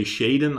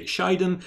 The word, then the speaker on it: Shiden: And also a little other side note is that the pronunciation of Shiden remains a little bit unclear. Some people say Shaden.